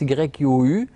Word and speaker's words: HU: chant du Hu hein ça s'écrit Hu ça se prononce y u ça se prononce donc